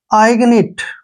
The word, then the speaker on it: ignite: Next, IGNITE, देखिए यहाँ पर आई का उच्चारण हम आई ही लिखेंगे ऐसे, ठीक है, जी का उच्चारण ग करेंगे और एन आई को नी पढ़ेंगे और टी को टे पढ़ेंगे, आइगनिट, ठीक है।